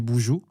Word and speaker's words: BNXN: C'est de en fait cet artiste avant s'appelait Boujou. Tu vois Bjou l'artiste nigérien afhrobit, ça s'écrit B X NX. Ah oui oui oui, je vois. Ah on dit boujou. Ça se prononçait boujou mais maintenant mais c'est ça le problème.